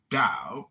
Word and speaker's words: Tao: The word Tao, properly pronounced Tao, has lent its name to a way of understanding and living in the world with profound implications for modern societies.